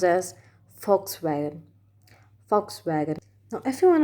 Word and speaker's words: Volkswagen: a german brand made in germany it's not volkswagen it volkswagen volkswagen being but no i said it wrong let me tell you it's a german brand and it's pronounced as volkswagen volkswagen now if you want to know why